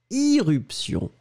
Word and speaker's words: irruption: oui, les deux existent, les deux existent, il y a éruption, mais j'ai prononcé irruption.